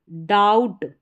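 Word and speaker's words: doubt: बी और टी का combination डाउट टी तक पढ़ा गया। बी साइलेंट है।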